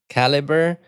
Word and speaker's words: calibre: Um and so it has a it has a lot of so the Libre it's pronounced as caliber but there's a Libre in it.